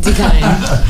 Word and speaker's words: Dekine: Dekine. Spell it, say it again.